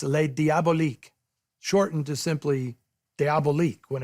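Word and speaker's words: Les Diaboliques: Keeping the French spelling and pronunciation gave it a mysterious quality that the literal translation diabolic just doesn't have.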